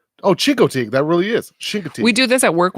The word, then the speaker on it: Chincoteague: How do you pronounce it? Oh, Chincoteague. That really is. Chincoteague.